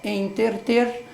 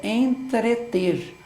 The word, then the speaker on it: entreter: lugar para outro então é quem usa em ter te simplesmente o que ele fez é trocou r de lugar na mesma sílaba ou seja a palavra certa palavra correta é entreter esse é entreter é